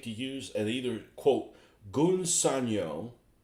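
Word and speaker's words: Gunze Sangyo: use, and either quote Gunsanyo, or I guess that's how you say it. It's not Gunsa Sanyo, or Mr.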